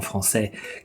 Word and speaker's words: français: français, vous voyez que la combinaison des 2 lettres AI fait le son est. Et donc, clairement, c'est un son qui sonne, ce n'est pas un son muet. Vous dites quelque chose de concret qui est, et donc vous allez mettre l'accent tonique à la fin. Vous dites français.